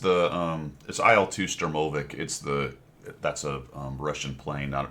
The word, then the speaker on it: IL-2: And that's spelled Isle as in shopping. aisle. Yeah, it's IL-2 Sturmovik.